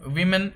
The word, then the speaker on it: women: The singular form of women is woman. It's pronounced W O. It's spelled WOMAN, and the pronunciation is woman. And the plural becomes WOMEN, which is pronounced women.